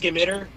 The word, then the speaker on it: scimitar: It's pronounced skimitter.